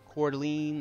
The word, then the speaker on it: Coeur d'Alene: I don't think that was Zach, too, when I was trying to pronounce it. Coeur d'Alene. There we go. I just call it Coeur d'Alene now.